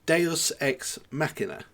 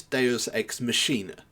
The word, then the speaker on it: deus ex machina: it should be pronounced it should be pronounced deus ex machina yeah but the game itself mispronounces it consistently is deus ex machine er yes that's the pronunciation